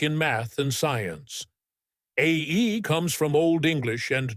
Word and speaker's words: Æ: Musk explained on a show that it's X, the letter AE, pronounced like ash, and a 12 is just his part.